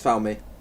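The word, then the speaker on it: Falme: slapped the microphone uh I believe it's pronounced found me that's the only one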